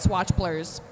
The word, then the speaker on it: Swatch Blurs: She told me that's how you pronounce it, Swatch Blurs, with Sailor Doom for Lonesome Glove.